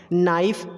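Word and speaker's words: knife: नो, KNOW, बट के यहाँ पे साइलेंट है। नाइफ में भी के साइलेंट है, ऑल्सो नॉलेज में भी के साइलेंट है।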